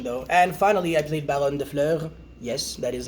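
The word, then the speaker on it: Baronne de Fleur: And finally, I played Baron de Fleur. Yes, that is how you pronounce it.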